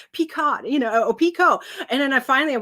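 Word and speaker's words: picot: what it's called or until recently I did not know how to say the Stitch Pico I always said peot you know and I'm like oh it's Pico read it you never say it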